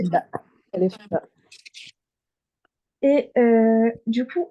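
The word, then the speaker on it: باء: C'est le B en français, tout simplement. Je répète, la lettre bas en arabe, c'est le B en français. Aucune différence de prononciation. Normalement, vous savez tous la prononcer. bah, ألف bah.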